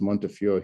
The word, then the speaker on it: Montefiore: I was at Montefiore, it's pronounced Montefiore here, for 20 years before I discovered the connection.